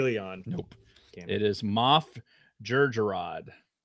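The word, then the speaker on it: Jerjerrod: Bader and hey Leon nope it is Moff Georgia rod how do you spell it with a J sure Georgia rod that's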